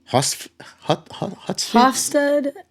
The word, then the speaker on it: Hofstede: But one of the things that you have studied has to do with Hofstede. This is How where do we you need pronounce our in Dutch Dutch?